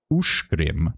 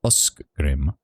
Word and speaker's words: Ushgrim: Ushgrim, not uskgrim. Okay, ushgrim. So that CG sound is a sh.